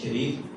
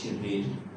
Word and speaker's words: شریر: عربوں میں شرارت یا شریر جو ہے اردو میں ہم پروناؤنس کرتے ہیں شریر, لیکن اس کا جو صحیح تلفظ عربی میں وہ شریر.